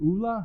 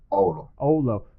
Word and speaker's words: Oulu: You live in, how do you pronounce it? Ula? How do you pronounce that? Oulu.